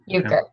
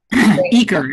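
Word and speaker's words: Uecker: Uker. Eaker is actually how you pronounce it.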